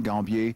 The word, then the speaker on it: Gambier: I can be reached at WSL:/Gambier, Gambier, that's the American pronunciation, Gambier in French.